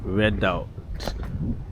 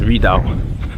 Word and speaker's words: Redoubt: I'm sure it's Redoubt. You don't pronounce the T probably.